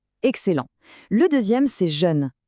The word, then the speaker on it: jeune: Le deè c'est jeune. J E U. Encore une fois, un jè arrondi pour le e. Jeune.